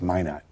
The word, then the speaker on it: Minot: But that was really It's Minot. Yeah. Mino Mano, North Dakota. That's the French pronunciation. Yeah. We Americans call it May not here.